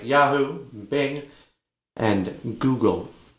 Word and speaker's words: Google: like yahoo bing and google it's pronounced google not goggle it's a good look